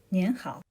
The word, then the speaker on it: 您好: 您好. Hear that little N sound at the end?